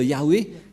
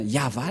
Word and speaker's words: YAHVAH: que dans la translitération ce n'est pas du ça ne devrait pas du tout être Yahwé qui on induit en erreur les catholique romaine car dans le le chefertoras et bien yava la la prononciation et on va prendre en photo car certains aussi disent que que c'est yawa mais pas yava et c'est encore une